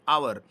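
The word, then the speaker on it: hour: जैसे यहाँ पे देखिए ए आवर लिखा हुआ है, एच कॉन्सोनेंट लेटर है, लेकिन इसका जो प्रोनाउंसिएशन है वो आ से होती है, आवर।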